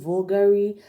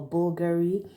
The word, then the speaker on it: Bulgari: this is Bulgari I hope I'm getting that pronunciation right I don't need to call it vulgari or Bulgari but please if you know the pronunciation please